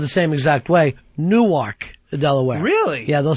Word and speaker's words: Newark: My dad is from Newark, New Jersey. Yeah. And I don't even pronounce it the way he does.